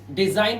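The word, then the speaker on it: design: देखिए डिजाइन word में देखिए एन से पहले आया जी, जी साइलेंट है मतलब रचना।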